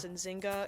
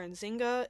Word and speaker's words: Nzinga: Most of the sources I saw referred to her as Enzinga and Anjinga. So I may at times call her Enzinga and other times call her Injinga, but just know that it is the same person.